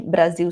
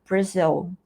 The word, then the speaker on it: Brazil: Tanto é que Brasil se escreve com Z em inglês e pronúncia de país também muda. Então, a gente não pronuncia Brasil, a gente pronuncia Brazil.